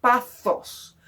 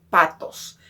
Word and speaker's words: pathos: Aquí hemos hablado anteriormente de una expresión extrema y que esto lo vamos a conocer como pathos, o a veces simplemente se pronuncia patos.